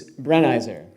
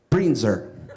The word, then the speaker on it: Brenizer: you can say your last name yourself it's brain Iser Breen's er so Ryan Brit sir when we say go